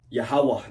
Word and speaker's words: Yahawaha: you've seen that before you probably don't know how to pronounce it Yahawaha that's how you pronounce it but you've seen